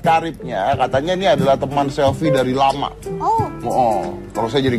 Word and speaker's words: Selvi: Tapi kisahnya adalah bahwa Gibran ini akan menikah dengan Sylvie. Selfie. Itu tulisannya Sylvie. Selfie. Itu tulisannya kalau bahasa Inggris bacanya Sylvie. Kalau tulisannya pakai ejaan Inggris SELVI jadinya Sylvie.